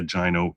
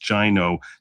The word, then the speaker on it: GINO: people know what a gino is also pronounced gino not go like the name go but gino like rhyming with the word rhino because that's the point